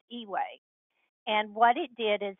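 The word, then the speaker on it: EUA: an emergency use authorization that's pronounced e-way and what it did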